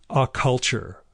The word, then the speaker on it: Occulture: And for 2020, she wants to read A Culture, The Unseen Forces That Drive Culture Forward by Carl Abrahamson. And that's spelled like occult culture, OCCULTURE.